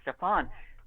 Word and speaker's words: Stefan: on for this series, the publisher gave me a list of pronunciations, and I asked for it, and it was Stefan, I was told to say.